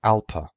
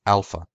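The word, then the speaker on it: ἄλφα: my ability alphabet Alpha in CL classical Greek it was pronounced Alpa in Co Greek or biblical Greek it was pronounced Alpha in modern Greek it's still pronounced Alpha the only difference between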